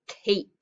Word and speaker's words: cape: do i need yes i need that volunteer letter that silent e to come at the end so it's an a a consonant an e and this is the silent one jumping over to make the a do it from short sound to being a long sound okay let's practice reading